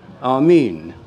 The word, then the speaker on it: Amen: And the way it's written is with the eta, the long E.